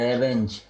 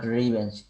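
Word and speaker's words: revenge: স্যার রেভেঞ্জ স্যার, নট রিভেঞ্জ। না, আপনি তো ওখানে তো সুন্দর করে দেয় আছে প্রোনাউন্সিয়েশন, আপনি ওখানে ক্লিক করলেই প্রোনাউন্সিয়েশনটা দেখতে পাবেন, ওখানে বলা হচ্ছে রিভেঞ্জ, ঠিক আছে?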